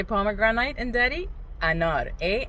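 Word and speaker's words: انار: Anor. A n a r is how you would pronounce it. Anor.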